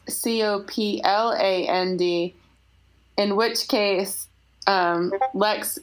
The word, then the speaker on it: Copland: google it oh american composer no e aaron copland i am i i apologize i've been saying